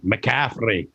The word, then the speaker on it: McCaffrey: you know McCaffrey that's that's an Irish name McCaffrey yeah and that's how they say it they roll the tongue with it like a flea yeah see I'm Scottish